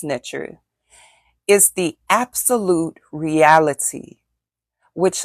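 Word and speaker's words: Neter: Ntr, N-E-T-E-R, is pronounced Ntr, is the absolute reality which lies beyond time and space.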